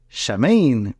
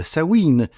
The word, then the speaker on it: Samhain: pas parler cette semaine de chamine ou de sawine tout dépendant de comment tu le prononces alors on y va